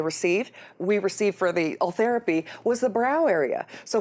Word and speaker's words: Ultherapy: with the with the face with this this althera am I saying it right correct we can